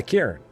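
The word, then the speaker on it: cairn: Karen. C A I R N. Karen. It's like Karen without the extra syllable. It's like if you took Karen and made it all one syllable.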